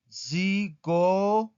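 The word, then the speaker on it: psicologo: Pero en italiano tiene que sonar. ¿Ok? Entonces, lopsicólogo, lopsicólogo. Esta es una palabra también esdrújula. ¿Por qué? Porque aquí, en esta parte, está la sílaba tónica. Psicólogo.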